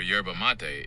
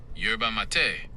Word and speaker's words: yerba mate: Mate, pronounced like matei or mate where the final e is clearly sounded not silent like in the English word mate. Putting it together, it sounds like yerba mate or yerba mate.